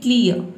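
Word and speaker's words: clear: आधा र पढ़ेंगे और आप चाहे तो यहां पे आर लेटर को साइलेंट रख सकते हैं यानी कि आप साइलेंट रखेंगे तो आपका प्रोनंसिएशन सही होगा आपको बोलना है क्लियर ठीक है इसमें र को हम प्रोनाउंस नहीं करते हैं ठीक है तो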